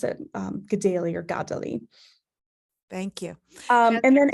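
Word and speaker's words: Kateri: I've actually learned that given where the accents are placed on her name in Mohawk it should actually just put this the um emphasis on the first syllable instead so Godly so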